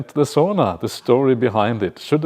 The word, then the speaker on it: sauna: Sauna. That's how you say it in Finnish, sauna.